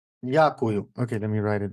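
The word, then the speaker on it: дякую: Diakuyu. Diakuyu.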